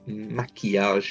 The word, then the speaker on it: maquillage: Maquillage is the word for makeup. Maquillage, really lovely word to pronounce because it's got that E sound in the middle.